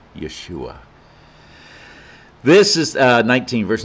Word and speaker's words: Yeshua: jesus yeshua christ yeshua that's actual hebrew pronunciation of jesus yeshua this is uh 19 verse 19.